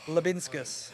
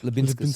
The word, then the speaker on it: Liubinskas: Pronounce his surname, Muzza. Did you remember? I don't remember the name. Yeah. Liubinskas. Liubinskas.